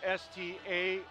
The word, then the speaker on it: Starrett: pronounce his name, because it's Starrett, and he said the easiest way to remember it is if there was a G in front, you wouldn't say Garrett, say Garrett.